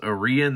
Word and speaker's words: Arion: uh artisan cutlery aren it's spelled a-r-i-o-n but it's i guess pronounced orion that's how i hear